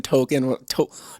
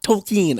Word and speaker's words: Tolkien: it wasn't published when token tolkien i'm saying it wrong every time i just want to say token like the character from south park or the rapper but tolkien tolkien tolkien i say it wrong and i'm supposed